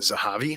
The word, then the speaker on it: Zahavi: Mind by Gallagher and Zahavi. I think it's Zavi is how it's pronounced.